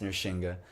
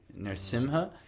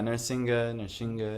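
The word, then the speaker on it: Nṛsiṃha: Yes, I also, I don't know actually, but apparently it's always been pronounced Nrsimha, but from what I understood, the English transliteration came with an M, Narasimha, but it's just, I've been saying it wrong for years.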